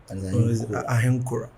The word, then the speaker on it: Ahenkorah: Ahenkorah. Okay, right. So Ahenkorah. It's actually pronounced Ahenkorah.